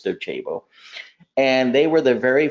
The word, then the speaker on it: Docebo: Some people pronounce them as Docebo. It's Docebo.